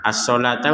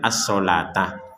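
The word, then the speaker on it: الصلوة: Nah, ini perhatikan as-sholatah untuk huruf wawunya kan nggak terbaca, walaupun tertulis memang harus tertulis karena itu cara penulisannya saja, cuman cara bacanya beda.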